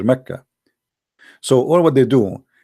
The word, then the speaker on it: Mecca: Sorry, for the people of Quraysh, they pronounce the letter Qa as Ka in such places, like in this case here, Mecca.